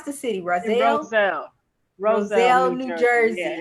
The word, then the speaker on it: Roselle: book expo in, how do you pronounce the city? In Roselle? Roselle, Roselle, New New Jersey.